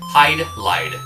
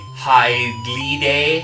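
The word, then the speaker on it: Hydlide: thinking it could be highly day because it's japanese but even the japanese game has the borrowed language because it's written in katakana which is hai do rai do highlight stands for sucks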